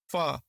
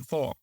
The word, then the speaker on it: pho: Yeah you mentioned like the right way to pronounce it is f the soup but far yeah okay I always say like four okay far yeah far so what I've read